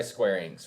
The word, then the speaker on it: Square Enix: So it's made by Square Enix, right? Is that how you pronounce it? Yep, Square Enix.